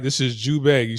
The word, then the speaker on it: Zhubei: This is Zhubei. You spell it z h u b e i or z depending on who you're talking to.